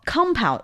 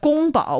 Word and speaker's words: 宫保: Well, kung pao was not, but gong bao was. Oh, but it just got kind of changed. Yes. And then when it made its way west, then the pronunciation changed even more.